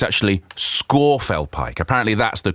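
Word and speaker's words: Scafell Pike: it was actually justine green telling me it's pronounced it's not scaffold pike or scarfal pike it's actually scorpfel pike apparently that's the correct prince in a pronunciation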